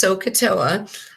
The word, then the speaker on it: SOHCAHTOA: shortcuts that you might actually see and it's pronounced sohcahtoa is that people will show this as so